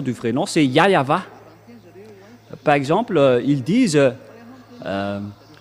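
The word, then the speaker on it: Yahweh: ici chez les Orientaux il prononce vraiment le W par un V ou par un B c'est ici qu'on voit clairement que le W est bien un V mais ce sont les Occidentaux qui l'ont changé en ou mais pour les Orientaux il prononce bien le le W en tant que V mais c'est le V qui est vra la bonne prononciation et c'est pourquoi ils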